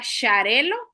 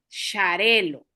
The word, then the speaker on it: Xarel·lo: Entonces son nombres catalanes. Se pronuncia Xarel·lo.